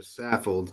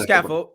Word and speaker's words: Saffold: Yeah, Saffold too. Roger Scaffold. Yeah, I said Roger Scaffold. Saffold. Oh, Roger Scaffold. Scaffold. Saffold. No C in there.